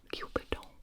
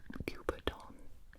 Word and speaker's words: cuberdon: This is the, I think you're supposed to pronounce it French-like, the Cupidon, don't laugh at me, Cupidon.